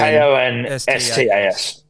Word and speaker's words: Konstas: How do you spell it? It's K-O-N. K-O-N-S-T-A-S.